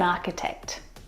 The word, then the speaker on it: architect: The CH in all of these words is pronounced like a K sound. My brother is an architect.